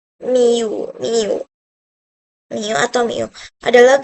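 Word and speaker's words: μ: Selanjutnya fungsi keangkotan ini disimbolkan dengan ini nih cara bacanya miu miu miu atau miu adalah grafik atau rumus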